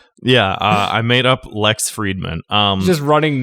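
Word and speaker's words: Fridman: I believe it's pronounced Friedman.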